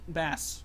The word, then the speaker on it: Bass: mega man and bass yes i know it's pronounced bass but i still pronounce it best because i think that that uh pronunciation sounds